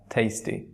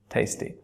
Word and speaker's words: tasty: আমরা অনেক ক্ষেত্রে টেস্টি বলি, টেস্টি হচ্ছে না, tasty. The mangoes are so tasty. Now let's pronounce three words at a stretch: test, taste, and tasty.